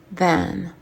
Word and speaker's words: than: autre ou plus petite, than. Bien attention à la prononciation du TH. Than. Tu commences par mettre la langue entre les dents et ça marche à chaque fois, ok?